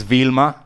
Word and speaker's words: Wilma: Her name is Vilma. In English, she's supposed to be Wilma. Oh, so you And spell it with a it's V. written with a double. I don't know. My grandparents wrote it down with a W.